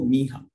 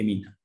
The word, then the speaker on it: Minha: Yeah, is it Minha or Miha? We pronounce the N, right? All right, right, okay, Minha.